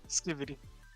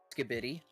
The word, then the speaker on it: Skibidi: Threat level, Skivity. See, I ruined it for the Skivity fans by pronouncing it wrong. How do you say it? Skibidi.